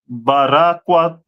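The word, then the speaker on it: ברקת: Carbuncle, which in the Hebrew is barakwat.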